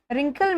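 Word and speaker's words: wrinkle: रिंकल में जो डब्लू होता है ये साइलेंट रहता है, यानी डब्लू लिखा तो जाता है पर बोला नहीं जाता है।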